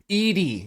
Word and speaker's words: Edie: Like not like Eddie, like, but Edie. Yeah. Edie. E-Z. Must be pronounced Edie. Yeah, Edie like an elderly, like, female name as opposed to Eddie like a masculine name.